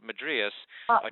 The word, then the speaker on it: madrasa: do you pronounce it I mean it's in Arabic it's madrasa but um madrasa I'm sorry madasa right